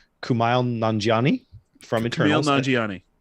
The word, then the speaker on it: Kumail Nanjiani: So we have, I can never say his name right, Kumail Nanjiani from Kumail Eternals. Nanjiani. Kumail Nanjiani There you go.